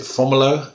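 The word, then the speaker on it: Fomalhaut: the first magnitude star formula which hugs the um is that how you pronounce it fomolo i pronounce it yes yeah okay well either way it doesn't matter except mine's right which hugs the southern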